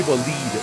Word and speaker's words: Bolide: like actually it's pronounced Bolite and I'm like my guy I'm not saying that this car is a B. I'm pronouncing the name of the car which is French which is Bolit.